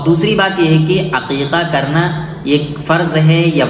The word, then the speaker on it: عقیقہ: سمجھنے کی ہے کہ صحیح تلفظ عقیقہ ہے، یعنی اے کے ساتھ۔ بعض لوگ اس کو حقیقہ بولتے ہیں، تو حقیقہ